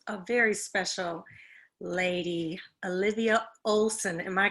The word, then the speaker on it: Ohlson: have with us a very special lady olivia olson am i correct saying your last name correctly